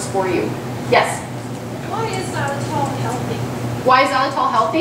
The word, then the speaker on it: xylitol: Why is xylitol healthy?